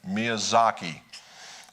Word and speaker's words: Miyazaki: Miyazaki.